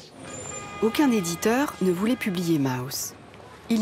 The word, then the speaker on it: Maus: Mouse m a U S. Cela veut dire souris en allemand. En anglais, même si cela s'écrit différemment. Souris se prononce aussi mouse.